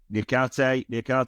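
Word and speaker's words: Niakaté: And Forest also made their money pretty much because Niakate, it's pronounced, the centre-half is set to complete his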